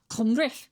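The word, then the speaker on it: Cymru: It's pronounced kumbre. Com. And if you click on that link, it takes you to Wikipedia in which there's also a pronunciation of kumbre. And you'll hear kumbri kumbri.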